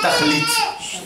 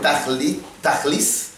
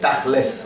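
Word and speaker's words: תכלית: Comme avec l'accent ashkénaze, le tav de la fin, on le fait se. Les ashkénazes, le tav, sans le point à l'intérieur, ils le prononcent se, comme un samer. Et donc, au lieu de dire tachlis, c'est tachles. On fait comme ça, tachles.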